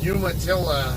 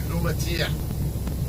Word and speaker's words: Umatilla: But actually, I pronounce Umatilla. I pronounce it Umatia, because that's how a Spanish speaker would pronounce it, based on the way it's spelled.